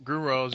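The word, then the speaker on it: Gruenwald: Grindwalls, you said it right.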